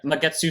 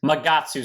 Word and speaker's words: Magatsu: time covert demonic dragon magetsu storm uh yeah you know i'll pronounce it properly for once magatsu storm that doesn't taste as